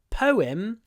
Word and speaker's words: poem: mom poem a poem what's interesting here is we get a w sound it's p whim po poem poem poem po poem poem don't miss the word it's probably the most important sound poem not poem poem